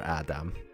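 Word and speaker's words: Ádám: I shall send another in your stead to seek Adam, or Adam, which is the Hungarian pronunciation.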